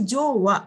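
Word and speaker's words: 上: Ini bacanya bukan ue tapi bacanya apa di situ? Jo desne. Jadi kalau nggak ada no-nya, kalau nggak ada no sama dewa itu bacanya jo. Nah ini tuh langsung n.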